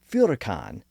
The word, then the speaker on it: furacan: Now, in actuality, it seems much more likely that the natives yelled furacan with an F sound at the beginning.